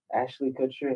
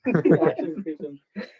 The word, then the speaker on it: Ashton Kutcher: He said Ashton Kutcher, Ashley Kutcher, and then Ashton- Ashton Cushion. Ashton Kutcher.